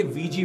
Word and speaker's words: Ouija: पहले हैं ये वीजी बोर्ड्स। इनकी स्पेलिंग होती है OUIJA, लेकिन प्रोनाउंस इन्हें VG किया जाता है।